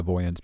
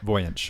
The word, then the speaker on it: Voynich: We're not sponsored by the Voyance manuscript. Well, and we definitely aren't because you can't even pronounce it. So Voynich.